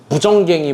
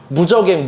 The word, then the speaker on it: 무저갱: 제가 이거 발음이 잘 안 돼가지고 무정갱이 막 이렇게 돼 있었는데 무저갱, 무정갱 뭐 어쨌든 뭐 이런 게 막 열린 거예요.